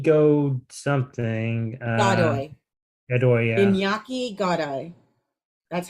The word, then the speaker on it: Iñaki Godoy: Iñaki Godoy. That's how it's pronounced.